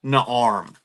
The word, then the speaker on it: Naarm: It's five letters and it's pronounced Naarm.